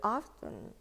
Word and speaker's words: often: But actually, in American, okay, in American pronunciation, T in here is silent.